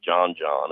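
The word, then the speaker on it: Djon Djon: He and I, we when we boil crawfish together, we take what's called John John and it's spelled Dj and hyphen DJ O N.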